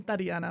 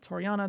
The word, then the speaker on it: Tariana: I'm Tiana, but I get Toriana, Torina, Tatiana, everything in between.